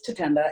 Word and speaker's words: Tatenda: being there is just like the basic mispronouncing pronunciation of my name you know my name is to Kenda it's about how it said it could be